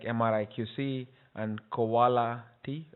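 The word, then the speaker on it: Qoala-T: And there are tools like MRI QC and Koala T, I guess it's supposed to be pronounced as quality, that can help you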